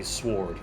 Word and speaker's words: sword: it annoys me now when people say sword cuz there are like non natives who say sword or Castle instead of sword and Castle sword that's brilliant yeah cuz they don't know the W is silent you well there a